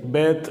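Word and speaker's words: בית: நிறுத்தாம கொஞ்சம் அப்படியே வெளிய தள்ளி வந்துட்டோம்னா இந்த எழுத்தை பேத் அப்படின்னு உச்சரிக்கிறோம்.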